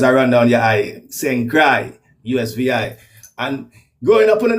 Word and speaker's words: St. Croix: just like my name is spelled different, but pronounced St. Croix, like what I mean, like your heart a cry, you know what I mean, like tears are run down your eye, St. Croix, USVI.